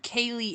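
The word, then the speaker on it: ceilidh: send you some videos of what a true Kaye is it's spelled c e i l i DH I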